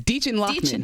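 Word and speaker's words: Dichen Lachman: Her name is Deachin Lockman. Deachin. Thank you, Deachin Lockman.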